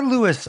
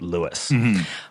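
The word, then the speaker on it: Louis: The attendance was 15015 or Lewis Armstrong Stadium. Both pronunciations are acceptable, though the man preferred Lewis.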